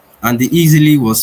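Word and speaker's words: Eexily: be cheaper and still get people to pronounce the word easy like it's easily it's easily done.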